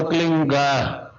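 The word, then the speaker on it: क्लीं: की मात्रा और बिंदी, उसका उच्चारण होगा क्लीन गा। गा के ध्वनि निकलेगी पीछे।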